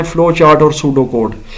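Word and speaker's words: pseudocode: इसमें P silent है। ठीक है? पी एस यू पी एस ई यू डी ओ सी ओ डी ई ये है सूडो कोड इसमें पीस साइलेंट है और फ्लो चार्ट्स हैं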